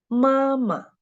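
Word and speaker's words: 妈妈: For example, mama. The second syllable of this word is the neutral tone, and we should read it very short and light.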